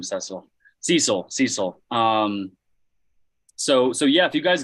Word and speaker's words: Cecil: I literally Googled how to pronounce the name Cecil. Cecil.